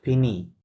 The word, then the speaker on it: finis: জো ফিনি, কি হবে? জো Je finis. ফিনি, এসটা silent. হ্যাঁ, চু ফিনি, S silent, ইলেল অফ ফিনি, T silent.